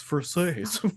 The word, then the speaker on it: Versace: It's Versace, dick. But he wasn't saying you fucking idiot. He's like, it's pronounced Versace.